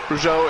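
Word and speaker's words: Rougeau: team partner of jao or rjo how you say it rjo yeah yeah the rjo brothers were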